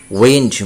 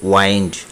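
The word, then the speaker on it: wind: Next উইন্ড বাতাস, এটি হলো নাউন। উইন্ড সোজা উচ্চারণ উইন্ড বাতাস। যখন এই শব্দটি ভার্ব হবে তখন হবে ওয়াইন্ড।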